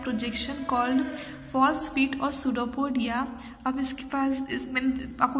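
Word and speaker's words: pseudopodia: हम क्या बोलते हैं, सूडोपोडिया या फॉल्स फीट बोलेंगे। और देखिए सूडोपोडिया प्लूरल फॉर्म है, सिंगुलर फॉर्म हम उसको बोलेंगे सूडोपोडियम। पी जो है इसमें साइलेंट है।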